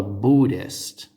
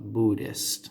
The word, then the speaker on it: Buddhist: religion is called a Buddhist a Buddhist okay so the H is silent Buddhists now Buddhism encompasses